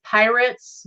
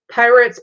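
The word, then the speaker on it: Pyritz: had a bigger graphic it says pirates but it's spelled p-y-r-i-t-z and it says pirates pyrotechnics for las vegas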